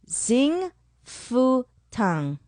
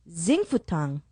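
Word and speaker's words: Xing Fu Tang: the boba i hope i'm saying it right zing fu tang what'd you call me x i n g f u t a n g zing futong on main street well i think they have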